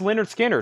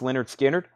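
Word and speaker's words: Lynyrd Skynyrd: BBC Sessions 33.99 I've got two of those pronounced Leonard Skinner this is a music on vinyl version 38.99 pronounced Leonard Skynyrd Herbie Hancock Headhunters 38.99 the who who's next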